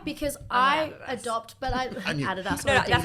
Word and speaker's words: Adidas: enemy but why because I adopt but I Adas that's how you say it I'm a Nike